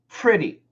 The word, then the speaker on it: pretty: they don't say pretty we don't say pretty we use a short I like hit pretty pretty it's actually a short I pronunciation pretty pretty pretty pretty and if we say it really fast it might even sound like a schwa which would be pretty pretty pretty so daniel